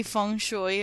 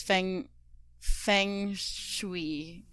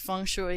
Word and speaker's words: feng shui: the conventional wisdom of how do you say feng shui right that's it yeah because i've heard other people say it as fang feng shui i think it depends where you're from right but i'm just